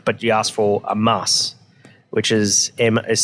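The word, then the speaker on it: Maß: for uh Stein but you ask for a mass which is ms spell em a and then the B that's pronounced like a double s and so you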